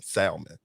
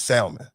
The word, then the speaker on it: salmon: call it salmon salmon salmon it's salmon s-a-l salmon the l is silent why is the l